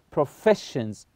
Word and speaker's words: professions: word here is professions so s i o n and the Fe here is the syllable so we say professions so the Fe we stress this syllable number three both Physicians